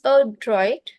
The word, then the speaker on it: adroit: So the pronunciation is a droid. It's a sound of UH is coming.